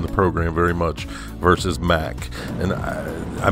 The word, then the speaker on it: Mack: It doesn't really strike one as being designed by Mack, or Mack as it's properly pronounced, I guess.